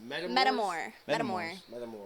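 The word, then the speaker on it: metamour: Metamor. Mm-hmm. Like a paramour, but yeah.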